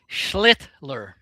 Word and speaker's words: Schlittler: Schlittler.